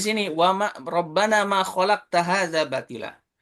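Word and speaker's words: خَلَقْتَ: Seperti hanya di sini wa ma rabbana ma khalaqta hadza batila. Aslinya khalaqta, sebaliknya yang kayak tadi ya. Dibaca dengan khalaqtu. Ta itu anta ya domirnya. Tu itu aku.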